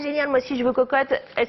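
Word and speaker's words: Quocotte: Cocotte, ça s'écrit Q-U-O C-O-2-T-E, d'accord?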